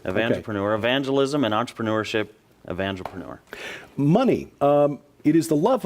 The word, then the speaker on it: Evangelpreneur: It's Evangelpreneur. Evangelpreneur. Evangelpreneur. Okay. Evangelism and entrepreneurship. Evangelpreneur.